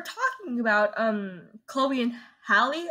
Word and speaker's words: Halle: about um Chloe and Halle exactly pronounce her name Holly yeah and these people